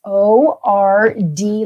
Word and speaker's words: Ord: that you understand that i'll spell it it's o r d like dog ord nebraska and our partner